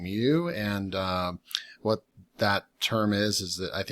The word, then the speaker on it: Mieux: I looked up how to pronounce it. I also watched the video down here, and I believe it's basically called Miu. So that's what I'll be saying, Miu.